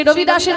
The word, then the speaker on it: রবিদাস: তার নাম হচ্ছে রুদাস আসলে রদাস তার নাম নয়। তার নাম হচ্ছে রবিদাস। বাঙালিরা বলে রুবিদাস।